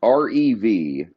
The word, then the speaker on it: Revuelto: R-E-V-U-E-L-T-O. R-E-V-U-E-L-T-O. Revuelto, but the there V you is silent.